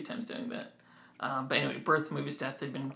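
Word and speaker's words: Birth.Movies.Death.: I keep saying their name wrong. Birth Movies Death. I think in the last podcast when I was talking about them, I kept calling them Birth Death Movies.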